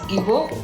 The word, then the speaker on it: Igbo: The Nigerian language is pronounced as Igbo.